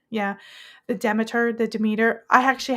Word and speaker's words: Demeter: It's pronounced demeter. Yeah, the demiter.